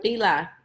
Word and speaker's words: Fila: Fila.